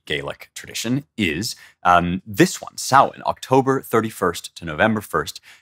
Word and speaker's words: Samhain: And the Gaels celebrated a holiday called Samhain, which is spelled Samhain, S-A-M-H-A-I-N.